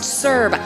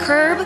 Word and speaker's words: CERB: A small business is important, and it's pronounced CERB, not curb, CERB.